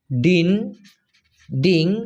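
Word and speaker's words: dinding: ডিং ডি আই এন ডি আই এন জি উচ্চারণটা হবে ডিন ডিং এটার মানে হচ্ছে দেওয়াল আর পাগার মানে হচ্ছে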